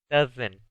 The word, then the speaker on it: doesn't: Con el sujeto he, she, it, en vez voy a usar la palabra doesn't. Doesn't. Termina en una T, que se escucha esa T.